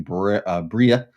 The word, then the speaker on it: Briar: Because he's going to be supporting Bria. It's spelled Briar, but it's Bria is the name of the dog.